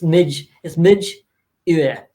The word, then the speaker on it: Midjur: Midjur, is that how it's pronounced? Midjur, yeah, Midjur. Midjur. Yeah, he's Scottish, so it's Midge Ur.